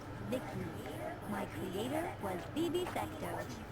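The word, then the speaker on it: Ivici: By the way, I-V-I-C-I, pronounced Vicky.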